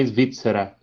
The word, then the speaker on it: Svizzera: Pronúncia italiana é Svizzera.